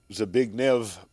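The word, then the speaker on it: Zbigniew: particular last interview with Zig Nev brazinski we keep pronouncing the W but remember Russian it's V sound so it's a big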